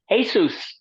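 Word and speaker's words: Jesús: It's like, the Hispanic name Jesus is pronounced Jesus. Yes.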